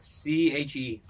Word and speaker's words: Che: How do you spell that? Che Guevara or somebody else? Somebody else. C-H-E. Che. Yeah. Che Guevara. Same thing.